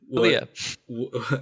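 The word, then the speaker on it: Calia: Kalia.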